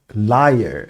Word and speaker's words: lyre: accompanied by instruments 악기들과 동반되어서 그러니까 반주를 곁들여서 어떤 악기들이냐면 such as the lyre 이건 거짓말쟁이하고 발음이 같습니다.